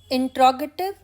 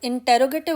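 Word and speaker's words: interrogative: अब हम आते हैं इंट्रोगेटिव या प्रश्नवाचक सेंटेंसेस की तरफ। इनको ज़्यादातर लोग इंटेरोगेटिव बोलते हैं, लेकिन इसकी करेक्ट प्रोनाउंसिएशन है इंट्रोगेटिव।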